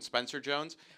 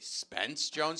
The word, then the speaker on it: Spence Jones: tough day for him everyone's calling him spencer jones his name is actually spence jones so everyone's getting his